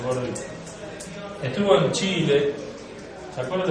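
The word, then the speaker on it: Garaudy: Gaurodí o Gaurodí, se pronuncia Gaurodí, es un francés. Tiene un libro excelente, Gaurodí. Gaurodí porque es francés, se pronuncia Gaurodí.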